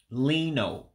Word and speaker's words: linụ: horizontal, it would be linụ, linụ for line. So remember, you have two special pronunciations. The actual regular I character has an E sound, and the U with the dot underneath, remember, that makes an O sound.